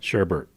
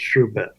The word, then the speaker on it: sherbet: he'd eat sherbet and yes sherbet you said sh Bert yes ERT yes that's the that's the way it was pronounced in Boston but they don't pronounce anything correctly so in the world of Jeff it's pronounced sherbet sherbet okay spelled bet yeah so we're at